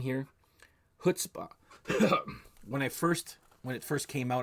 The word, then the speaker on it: Chutzpah: Most people are pronouncing it, ch, but it's huh.